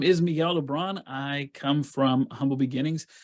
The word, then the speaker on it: Miguel Le Bron: I'm very excited to be speaking to Miguel Le Bron.